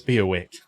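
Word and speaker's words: Biaŵac: he said that because if i saw that written down how on earth would i pronounce that apparently it's be a wick apparently okay end dialogue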